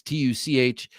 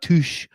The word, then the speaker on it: Tuch: He's like, yep, just like such or much or anything else that's spelled consonant UCH. I was like, oh, yeah, okay. It's not touche.